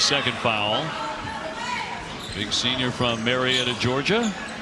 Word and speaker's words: Marietta: Big senior from Marietta, Georgia. Or as the folks in Marietta pronounce it, Mayor Reetta, do they?